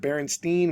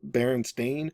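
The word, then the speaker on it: Berenstain: 70s always used to wonder why customers pronounced it Baronstein when it was felt Baron Stain.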